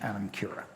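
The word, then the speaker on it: anam cara: called it an anima spelled kara if you were pronouncing it the way we would here in in the united states but in the gaelic language it's adam kira and the adam kira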